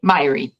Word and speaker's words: Mháire: If you're seeing that name, you can say Mháire, like Miley Cyrus, but if you had like a speech impediment where you said Mháire instead.